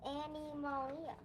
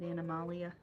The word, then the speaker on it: Animalia: It's Annie Malia. Yeah, they pronounce it Animalia.